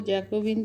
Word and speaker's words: Jacobin: আজ আমি জ্যাকোবিন দল ও জ্যাকোবিন শাসন নিয়ে আলোচনা করব। ব্রিটানি প্রদেশের সদস্যগণ ব্রিটন ক্লাব গঠন করে। জ্যাকোবিন মাঠে এদের সভা হতো বলে এদের নাম হয় জ্যাকোবিন। ফরাসি উচ্চারণে যা জ্যাকোবা নামে পরিচিত।